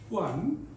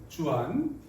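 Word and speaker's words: Juan: 스페인어로는 후안이에요, 후안. 예, 제이가 아니라 후로 발음하는데 주안. 그러니까 주안교회 영어로는 이렇게 써요, 주안이라고. 읽기로는 후안이라고 읽거든요.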